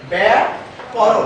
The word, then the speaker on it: ব্যাকরণ: ব্যাকরণ আসলে উচ্চারণটা অনেকে ভুল করি, আমরা ব্যাকরণ করি, কয়ে কিন্তু আকার নেই। আর যেখানে আকার নেই সেখানে আকার দিলে যেটা বাঁকানো যায় না, সেটা বাঁকাতে গেলে কি হবে? সেটা ভেঙে যাবে। সুতরাং আমরা ব্যাকরণ, এটা হচ্ছে শুদ্ধ উচ্চারণ, সেই উচ্চারণটা আমরা করব।